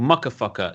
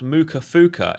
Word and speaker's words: Mucka Fucker: No matter how many times the owner tried to say no, it's pronounced Muka Fuka. It's like, no, mate, It reads muckafucker. I don't care what you say. It's muckafucker. No. It's mukafuka.